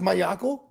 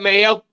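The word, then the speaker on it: Maiocco: It's pronounced Mayako. I don't know, man. I can't. Matt Mayo.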